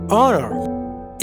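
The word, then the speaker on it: honour: ऑनर, इज्जत, एजाज, यहाँ पर भी एच जो है वो साइलेंट है।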